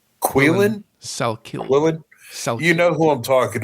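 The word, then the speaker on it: Salkilld: Salkilid, I think is how it's pronounced. Quillen? Salkilid.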